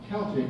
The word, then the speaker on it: Celtic: Celt or Celt, well, here's one of the reasons why Celtic is an appropriate pronunciation. The Greeks called them Celtoi, and then the Germans, to the Germans, we are Celtic.